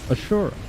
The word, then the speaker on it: Asura: Alright, but Vector says that big robot in Frontiers is technically pronounced Ashura, just like JJ's game.